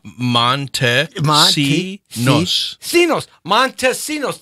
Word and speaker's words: Montesinos: Monta see ya Montesinos Montesinos okay it's very simple four syllables Montesinos okay I'm gonna get this right if this is the whole show today Jessi torero trying to get Montesinos because I wasn't trying